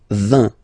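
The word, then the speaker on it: vingt: And the last one, so this G letter is here, but you don't pronounce it, okay? And then final T doesn't exist phonetically either, so basically you will only need to pronounce these 3 letters.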